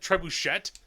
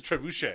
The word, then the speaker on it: trebuchet: I know that's why they said trebuchet that's not how you say it it is trebuchet it is no tette